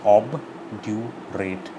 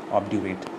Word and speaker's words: obdurate: Pronunciation is obdurate, obdurate in one single go.